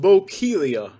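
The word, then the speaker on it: Bokeelia: today all right uh this one is pronounced bocalia and i think it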